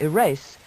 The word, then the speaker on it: erase: Both erase and eraser, with the soft S, today mean rub out gently.